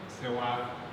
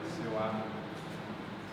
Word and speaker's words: Sewa: Now, in relationship to me, his sister would be Sewa. You may see the name spelled like this. This is ruffalization. There's no R in it. Sewa.